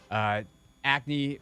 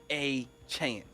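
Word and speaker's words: Achane: Acne had 203. A-Chan. Or A-Chan, my bad. Yep. My He bad. corrected everybody. He was like, it's Devon A-Chan.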